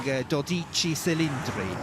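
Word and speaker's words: Dodici Cilindri: If we were Italian, I think we'd be calling Doichi Celindri.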